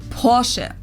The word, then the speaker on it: Porsche: it Porsche or Porsche in German we say Porche so there's like this short a sound in the end Porche it was founded by